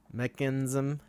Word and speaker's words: Mekansm: uh mechanism is the item of the week mechinism yeah I was just going to say if valve would want us to pronounce it the right way it would be mechanism mechanism yes mechanism so this is this is